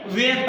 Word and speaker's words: ware: WARE ए के बाद में आर ई आता है इसे वेयर पढ़ेंगे।